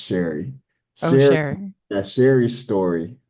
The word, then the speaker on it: Shari: Um well, it's it's pretty much uh they say sorry, but it's pronounced Sherry.